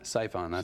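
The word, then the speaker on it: Psiphon: do I pronounce it siphon siphon it's spelled PS i p h o n silent P we put it there I thought it was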